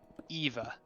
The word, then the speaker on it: Eva: are eve because hey in japanese you pronounce the e so eva i'm sorry i didn't